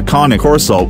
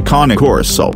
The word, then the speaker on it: Cane Corso: However, in terms of energy levels, a KAH-NAY KOR-SO is far more energetic as compared to a Bull Mastiff. So 1 point to KAH-NAY KOR-SO.